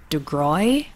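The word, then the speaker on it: DeGruy: her name is dr degroy right her name is dr joy de groy i hope i'm pronouncing that correctly but it is j-o-y first name d-e-g-r-u-y last name and she talks about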